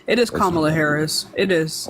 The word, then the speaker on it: Kamala: there there there is a historical significance to pronouncing her name correctly it is kamla Harris it is it's okay it's not it's